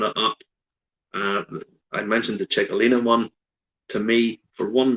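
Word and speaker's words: Txakolina: He brought out a Basque wine, which I had to look up to find out how to pronounce because I'd never heard of it before. Chicalina.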